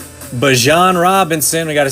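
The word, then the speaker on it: Bijan: the Craig and the Craig with the Chargers, Bejan, Bjan Robinson, we got to say it right.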